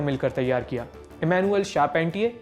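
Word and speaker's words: Charpentier: Emmanuel शारपेंटियर, इन्हें चारपेंटियर भी कहा जाता है, लेकिन फ्रेंच नाम है इसलिए शारपेंटियर सही प्रोनाउंसिएशन है, और जेनिफर डॉडना।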